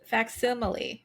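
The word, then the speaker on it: facsimile: e fax fax F faximile faximile yeah that's how you say it that is not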